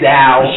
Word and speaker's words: Zhao: I'm sorry, it's right to say Zhao. J-O. Zhao.